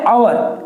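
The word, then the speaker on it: hour: एच से आपको दिख रहा है, आप बोलोगे सर ये तो कॉन्सोनेंट है, इसके पहले तो ए आना चाहिए था, लेकिन नहीं, जैसे मैंने इसका प्रोनाउंस किया तो हिंदी में अ का साउंड आया, और जैसे ही हिंदी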